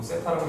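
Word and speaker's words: θ: 이거 세타라고 읽어요.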